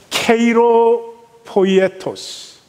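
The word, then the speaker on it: χειροποίητος: 손으로 지은 크레이로 포이에토스. 아이고, 오늘은 발음이 왜 이렇게 어렵냐? 케이로 포이에토스.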